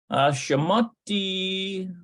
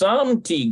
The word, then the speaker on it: שמתי: Okay, so Shamati, no, it says Shemti. It's probably Shemti. Shemti. Yeah, Shemti Galida. שמתי גלידה במקפיא, שמתי גלידה במקפיא, Looks like it's Samti Glida.